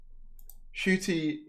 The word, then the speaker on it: Ncuti: Ncuti and Russell talk about the casting.